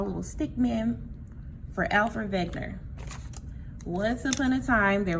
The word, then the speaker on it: Wegener: a scientist named Alfred Wegener. It is spelled with a W, but we pronounce it like it has a V because he was a German man.